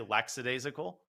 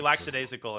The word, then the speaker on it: lackadaisical: lackadaisical most people say lackadaisical which is actually wrong there's no s there do people say that I would just slap them I regularly slap them but that's pretty lackadaisical in their in their